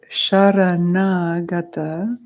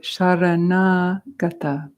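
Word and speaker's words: शरणागता: So the first word, sharanagata, sharana has the S with the accent aigu over the top, which makes it a sha, like a retroflexive sha.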